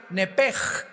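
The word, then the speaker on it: נפש: el hebreo es nepesh, se pronuncia nepej. La ch en hebreo se pronuncia como J.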